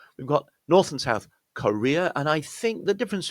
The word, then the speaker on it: Korea: I think the sound of the first syllable is more like Korea. Yeah, but very, very subtle difference.